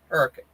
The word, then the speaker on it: Hurricane: It's I if you was going to spell it the way I say it, it's H r a c. Hurricane.